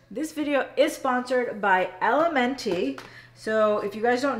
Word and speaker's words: LMNT: But first things first, this video is sponsored by Elementi. So if you guys don't know about them, they are an incredible electrolyte company. So it's LMNT, it's pronounced element, but this is our favorite flavor.